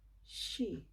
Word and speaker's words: she: Oke, jadi itu bacanya she, she, she. Oke, itu seperti kalau kamu mau bilang begini, shh, shh, shh. Bilang orang diam tuh, shh, shh, shh. Itu bunyinya hampir seperti begitu. Jadi coba bikin begitu dan bilang she, she, she.